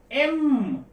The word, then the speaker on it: M: एम को एम। अब कभी कभी हमें सिखा दिया जाता कि यम है, ये यम नहीं है, यम तो कुछ अलग हो जाएगा, ये है एम, ऐसा एम।